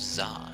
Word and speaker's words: ざ: ざ So first we have Za, as in wizard.